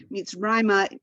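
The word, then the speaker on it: מצרימה: The second pashta tells us that that's where the accent is. So the accent is on Rai. So different from Mitzrayim, right? Mitzrayim is Egypt. Mitzrayma means towards Egypt.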